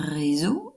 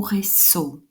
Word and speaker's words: réseau: il est réseaux sociaux est ce que je prononce un réseau ou ré so je prononce réseau pourquoi est ce que je